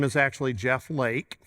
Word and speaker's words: Leake: name is actually Jeff Lake it's pronounced Lake it looks like leak so I a lot